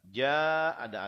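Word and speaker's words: جَاءَ: Ja-nya panjangnya lebih panjang. Nah, itu tata cara membacanya. Panjang yang normal itu 2 harokat namanya mad tabi'i. Sedangkan panjang yang di belakangnya ada hamzah seperti ini namanya mad wajib muttasil. Panjangnya sampai 6 harokat.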